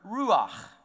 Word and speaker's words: ruach: is the Hebrew word ruach can you say that with me now you got to say like you got some popcorn stuck in the back of your throat right it's and so